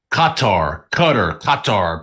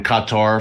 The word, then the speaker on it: Qatar: Qatar. People pronounce it different ways. I know I said Qatar last week.